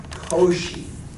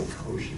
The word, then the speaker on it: Cauchy: Again, pronunciation. Don't say Cauchy. It just hurts. It hurts my ears. Cauchy. It sounds so much better. You should just naturally say Cauchy when you see that.